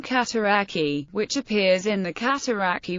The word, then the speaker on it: Cataraqui: The town's name rhymes with the place name Cataraqui, which appears in the Cataraqui River, the Little Cataraqui Creek, and the Cataraqui Cemetery in nearby Kingston, Ontario.